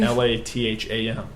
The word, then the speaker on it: Latham: LATHAM. Yes, it's spelled that way, like lat, then ham.